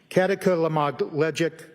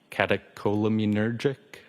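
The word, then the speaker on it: catecholaminergic: Um, kataka lamogic tacocardia. I probably butchered that up. Does that ring a bell? Uh, katakolamunergic.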